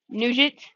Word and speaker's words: Nugent: Ashton Nugget to the plate. Nugent. Like Ted Nugent.